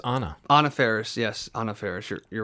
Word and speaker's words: Anna Faris: Anna Faris, yes, Anna Faris.